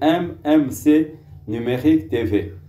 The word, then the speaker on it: MMC Numérique TV: Tolo bakango MMC Numérique TV parce que une prononciation peut-être à l'anglaise, mais c'est MMC Numérique TV.